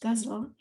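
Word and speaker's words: ghazal: final poem is uh it looks like the word gazelle but apparently it's supposed to be pronounced guzzle and it's an arabic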